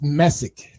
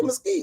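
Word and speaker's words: Mesick: It's Messick, Michigan. Yes. Well, why you say Mesquite, nigga?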